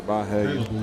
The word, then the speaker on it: Byhalia: Going to be 4th and 10 for Byhalia.